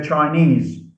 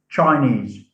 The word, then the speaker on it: Chinese: e s e portuguese we say chinese not chinese chinese so the suffix